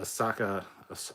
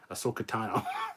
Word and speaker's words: Ahsoka: was kind of fun uh definitely seeing a asaka ashaka ahsoka asokatano there we go let's soak it down i'll